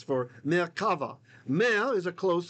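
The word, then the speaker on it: מרכבה: Notice it's not kova, it's kava. Okay. Unless Ashkenaz, then it's bamer kovo.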